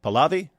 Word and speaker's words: Pahlavi: How do you pronounce that name? Pahlavi?